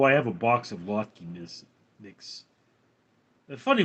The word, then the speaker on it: latke: Um, I haven't had one in a while, although I have a box of latke mix. That's funny, my mother always pronounced it latka, but it's latke.